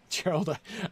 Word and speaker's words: Gerald: Gerald is asking, Gerald, I pronounced your name with a hard G because, like, that's where I am, right, in this book.